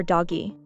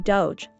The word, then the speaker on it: Doge: Is it pronounced Doge or Doggy? Well, the correct pronunciation is actually Doge, like the internet meme.